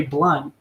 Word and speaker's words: Blount: i i mean like you say blunt but your last name is not blood that is how it's pronounced dude that's how whatever